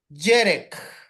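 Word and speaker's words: חרב: pronunciarla es la J yere en hebreo hermanos es espada y como lleva el acento en la primera e Entonces es jerek jerek ahora Jimmy termine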